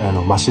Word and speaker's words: 猿: ます柱になります漢字でね猿って書いてねマシだって読むんですけどはい